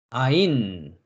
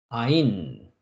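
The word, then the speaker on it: עין: 다음 글자는 눈이라는 의미를 가지고 있는 아인이라고 합니다. 아인, 아인, 아인. 아인은 첫 번에 우리가 공부한 알파벳과 같이 아인은 묵음입니다. 묵음입니다. 그 다음 글자는 입이라는 의미를 가지고 있는 페라는 알파벳입니다.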